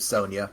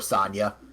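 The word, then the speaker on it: Sonia: brother named Manic and a sister named Sonya, or Sonya. They pronounced it both ways in the cartoon, just back and forth.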